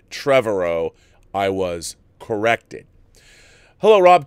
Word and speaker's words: Trevorrow: I've been saying Colin Trevorrow 's name wrong it's not Colin Trevorrow like I was saying a million times in my review so mr. Tovar Oh is not correct it's Colin Trevorrow I was corrected hello